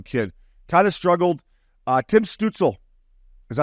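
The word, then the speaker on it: Stützle: Stutzel, that's how you say it.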